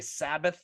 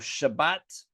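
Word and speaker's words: שבת: In Greek, they couldn't say sh, so they represent with a S sound with a sigma. That's why we say Sabbath instead of Shabbat.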